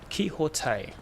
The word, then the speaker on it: Quixote: It's pronounced Quixote. Oh, so it's like X is the Spanish X. I understand now. It's like Mexico is Mexico.